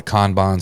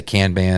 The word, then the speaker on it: Kanban: simple, what's called a Kanban. Some people say Kanban. I'm pretty sure it's pronounced Kanban board of to do, doing, and done that you're running in your business.